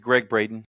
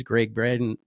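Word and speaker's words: Gregg Braden: He's like, my name's Greg Braden. Is that how you say it? Yeah, Braden.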